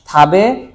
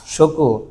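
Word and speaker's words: 食: এটার উচ্চারণ কয়টা হয়? দুইটা, থাবে আর শকু, থাবে আর শকু, ঠিক আছে?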